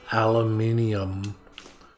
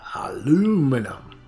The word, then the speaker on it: aluminum: gonna get all the aluminum cans not aluminum or who however you want to produce however you want to pronounce it we're in America we say aluminum um I